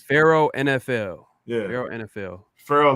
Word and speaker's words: Pharaoh: you're wrong yeah ashton it's it's it's pharaoh yeah pharaoh but it's spelled p-h-a-r-o-a-h so isn't it pharaoh pharaoh p-h-a o-a-h so if you look at like like the nah not like pharaoh not like pharaoh no it's not feral yeah it's not feral